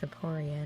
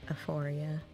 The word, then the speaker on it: Aporia: I wonder why it's Aporia, not like Aphoria. Because they keep trying to pronounce it like there's an H, but there's not.